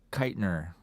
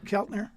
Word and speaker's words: Keltner: way uh listen to a drummer interviewing Jim kitner oh Keltner Keltner there you go any pronunciation talked about how talked about the genius